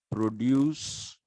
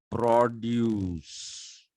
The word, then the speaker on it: produce: am mispronouncing this word there is a difference between saying produce and produce okay if you're producing something